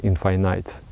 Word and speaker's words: infinite: I like the pronunciation infinite. That's how my master used to say this word.